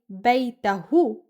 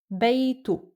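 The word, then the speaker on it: بيته: Actually, it's blended to the word that we add to, so instead of saying Baytohoo, it becomes Baytoo. Ha is pronounced as oo, added to the end of the noun, and again, you guys,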